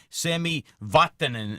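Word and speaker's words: Sami Vatanen: when uh defenseman uh Sammy watanin and I'm going to say that correctly that's a finished pronunciation because I know there's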